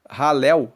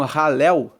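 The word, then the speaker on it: Hallel: de Salmos de aleluia egípcio ralel se escreve h a l l e l e ralel é a abreviação de aleluia porque Aleluia se escreve h a l l e l u y a é Aleluia então halel é uma abreviação de aleluia só que é ralel egípcio Ou seja louvamos a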